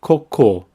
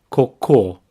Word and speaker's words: cocô: mild the word is cocoa pronunciation here is really important both syllables have the same sound core however the stress is at the end Coco Coco this word is